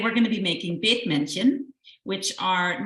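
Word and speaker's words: Bethmännchen: Will you pronounce the name again? Yes, it's Bethmannchen.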